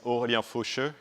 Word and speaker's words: Aurelien Faucheux: So yes, Scott, you pronounced it right. My name is Aurelien Faucheux.